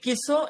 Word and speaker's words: Kieso: Donald কিসো and Kimmel. Donald কিসো, কিসো বানানটা দেখেন, KIESO, কিসো মানে উচ্চারণের সাথে কিন্তু নামের ইংরেজি বানানের অমিল আছে। KIESO, কিসো।